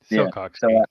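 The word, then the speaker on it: sillcock: One would be buildings using the Silock key? Is that how you say it? Silcock key. Silcock key, yeah.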